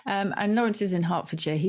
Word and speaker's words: Hertfordshire: cheer is beautiful and you say hertfordshire other people would say harfordshire i don't know why the t is silent obviously you live there